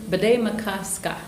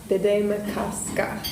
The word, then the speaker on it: Bde Maka Ska: And I'll need your help with the pronunciation. Bed makasa. Bed makasa. Yes. Bed makasa.